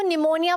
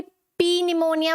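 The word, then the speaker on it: pneumonia: meaning क्या होगा इनसे पहले कापी अब देखो निमोनिया बोलते हैं हम कभी आपने सुना है कोई पी निमोनिया बोलता हुआ पी निमोनिया नहीं ना तो जो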